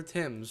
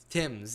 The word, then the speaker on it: Thames: freezing over i'm very why do you call it tim's there's no eye tim's is how they pronounce it in english accent i think some i